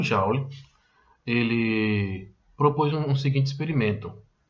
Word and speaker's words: Joule: Tem gente que fala Joule, tem gente que fala Joule, mas o correto, a pronúncia correta é Joule, tá?